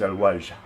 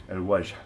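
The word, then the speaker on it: الوجه: The word for the face in Arabic is al-wajh, al-wajh, al-wajh. In Spanish, la cara, al-wajh. And the reason I like this word is because it ends with a soft H.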